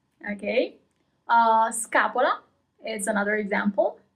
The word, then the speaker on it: scapola: As usual, you always pronounce all the letters. Scarpe. Scaduto, expired. Scaduto. Okay. Scapola is another example. Scapola, shoulder blade.